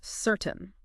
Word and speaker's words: certain: So, again, the stress is on the first part of the word and listen to that middle part, that tain sound. You know, sometimes it can sound a bit like tin or even turn.